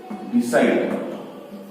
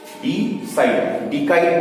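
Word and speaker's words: decide: अच्छा 15 डिसाइड, डिकाइड नहीं, ठीक है, वर्ड डिकाइड नहीं है। सी मतलब क यहां नहीं, स है।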